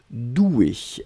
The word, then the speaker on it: douée: être au féminin ici donc on le prononce comme le masculin c'est à dire le masculin c'est des eaux usées un accent aigu là on rajoute juste le 1 mais la prononciation reste la même doué regard d'un pardon